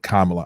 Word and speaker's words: Kamala: though there's 50 50 in the senate and kamal is a tie-breaking vote kamala i gotta say her name right kamala is